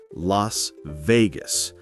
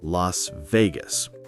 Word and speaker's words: Las Vegas: And for Las Vegas, remember the stress is on the second word. we say Las Vegas, not Las Vegas.